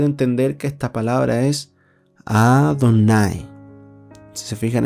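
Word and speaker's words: אֲדֹנָי: Le agregaron vocales para poder entender que esta palabra es Adonai. Si se fijan, esa E es tan corta que ni siquiera se pronuncia. Adonai.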